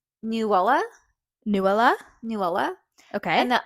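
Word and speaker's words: Nuala: these names so one of them is name newa newa Nela okay and the other one is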